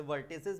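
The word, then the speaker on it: vertices: Wait wait wait, अभी अब सुनो, area of triangle ABC whose वर्टाइसेस आर, जिसे वर्टिसेस बोलते हैं कई जने, मैं वर्टाइसेस बोलता हूं, वो आपकी प्रोनाउंसिएशन है।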